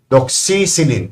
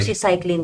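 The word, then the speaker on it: doxycycline: Doxyilin. Tama ba ang pronouncing? Doxyclin daw po.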